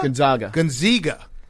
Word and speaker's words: Gonzaga: Gonzaga. Gonzaga. How do you pronounce it? It's a long A. Zaga. Gonzaga.